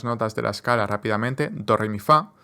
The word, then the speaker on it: doremifa: de la escala rápidamente doremifa que yo pienso como chocolate chocolate es como cuatro sílabas chocolate pero con acento al final chocolate d rifa rif